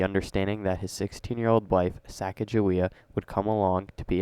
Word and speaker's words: Sacagawea: Can you spell that out? Sasagawea? Sakagawa? Kagawea? Sacagawea? Sakawewa? No, it's Sacagawea.